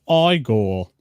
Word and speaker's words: Igor: It's pronounced Igor.